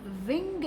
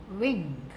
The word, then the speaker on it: wing: ये लिखा हुआ है व, यानी हम विंग नहीं कहेंगे, हम अपने होठ को, दांतों को होठ से नहीं छुएंगे, व नहीं कहेंगे, हम कहेंगे विंग और इसका स्पेलिंग है